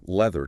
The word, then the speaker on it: leather: The text also compares leather to ladder. The th sound in leather is a vibration right on the teeth, whereas the double d in ladder bounces off the roof of the mouth.